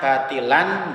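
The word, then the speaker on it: باطلا: Selanjutnya ada lafaz batila, tulisannya batilan, bacanya batila. Ini namanya bacaan mad iwad.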